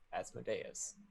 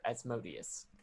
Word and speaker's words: Asmodeus: know uh is called asmodeus or asmodeus apparently it's pronounced both ways that origin pronounced it as modius but people kept saying